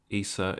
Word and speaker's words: Isa: Mand you actually uh spent Isa or and pronounce Issa in in the way that you as we find in the Quan Isa um instead of ISU